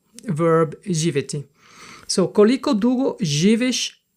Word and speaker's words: živiš: So, and you can see that the S with the symbol, like the upside down roof, is sh.